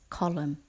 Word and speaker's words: column: front of the building don't forget the silent in in the word column word number 25 is